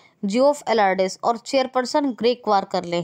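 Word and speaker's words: Geoff Allardice: अब ये हैं जियोफ एलार्डिस, और चेयरपर्सन ग्रेग वार्करले हैं आईसीसी के, और परमानेंट सीईओ कौन है?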